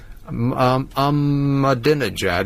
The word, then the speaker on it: Ahmadinejad: Ahmadinejad is how they pronounce it on the news, but it's spelled I'm mad in the head.